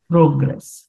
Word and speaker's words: progress: So the accent has to be on the second syllable. Progress. Progress.